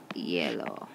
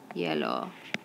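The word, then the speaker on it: hielo: going skating on ice you would say sobre yellow sobre yellow now remember this each at the beginning of yellow is silent ok so there we've learned the difference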